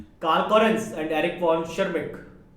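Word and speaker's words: Tschermak: Correns and Eric von शर्मिक, यहां पर T silent रहेगा, एरिक वॉन शर्मिक के अंदर टी साइलेंट रहता है, नाम यही है, याद रखें आप।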